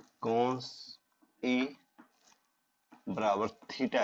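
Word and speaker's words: θ: कोण हो, तो इसको थीटा पढ़ते हैं भाई, ये ध्यान रहे, जो ये आया है इसको, ये ग्रीक लेटर है, इसको इसका जो उच्चारण होता है वो थीटा होता है।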